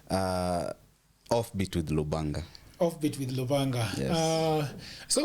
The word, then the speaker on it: Lubanga: We have Lubanga. How do you pronounce the second one? Yeah. Lubanga.